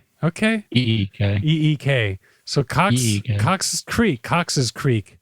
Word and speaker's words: Cox's Creek: Cox's Creek. Cox Creek.